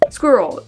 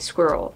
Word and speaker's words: squirrel: and I so NY squirrel squirrel I'm not even I'm pretty sure I'm getting that right squirrel it's one syllable I heard one of